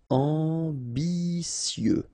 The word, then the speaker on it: ambitieux: Final X not pronounced, and then remember that you get this T, I, and then vowel, so si. Ambitieux.